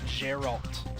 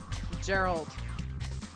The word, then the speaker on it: Geralt: Geralt, so hard G. Gerald. They kind of swallowed the alt.